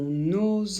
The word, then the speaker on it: nos: notre appartement ce sont nos enfants pour le pluriel on ne prononce pas le S non sauf si on doit faire la liaison et alors il faudra le prononcer comme un Z et ici on ne